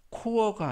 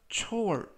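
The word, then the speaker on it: chore: 이라고 발음 하시면 되겠구요 이때 발음에 유의 하실 것은 c 2 h 가 크 발음이 아니라 취 그래서 코어가 아니라 초월 이라고 발음 하시면 되겠구요 품사는 명사 뜻은 정기적인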